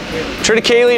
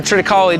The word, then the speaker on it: triticale: Triticale or Triticale, depends on your pronunciation of it, is I believe it's a wheat rye hybrid, right, Mike?